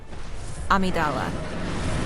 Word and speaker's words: Amygdala: the great ones is amidala i'm i'm referring i'm pronouncing it like that even though it's named after an amygdala of the brain but that's how they